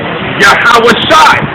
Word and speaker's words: Yahawashi: Yahawashi. So this doesn't have an A, so but this one does. And when they're connected, it's S-H-I, so it's Shai. Yahawah, Yahawashi.